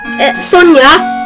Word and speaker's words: Sonja: the usual names are sja Sonia it's spelled Sonja though and Aiden but you